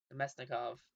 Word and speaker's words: Namestnikov: I mean, same with Namestnikov, Namestnikov, that's how you say his name.